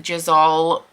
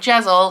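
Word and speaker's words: Jezal: going south because by as jazal which is how you apparently say his name not jezel Jizzle and Logan are all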